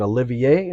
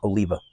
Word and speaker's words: Oliva: uh I always say it wrong is it Olivier Olivia like you know Oliva Oliva that's ITA see I told you I